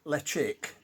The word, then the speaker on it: Ledaig: Ledaig, which is actually pronounced Lechik, beautiful whiskey.